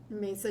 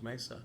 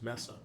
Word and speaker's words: Mesa: She was from Maine, so she thought it was Messa, which which is the same way Siri pronounces it.